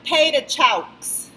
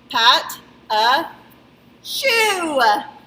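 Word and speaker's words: pâte à choux: then we have parachute okay it looks like pay to chokes if you were to read it but it's pronounced Pat Uh shoe that shoe is dirty hey so how to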